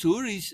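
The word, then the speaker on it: houri: But again, those huris, and they're called huris, which is where the word whore comes from, right?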